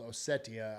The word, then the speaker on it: Ossetia: from a place called Ossetia, I believe is how it's pronounced.